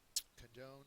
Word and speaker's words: condone: impish next one condone condone is a verb second syllable is accented it means to Pardon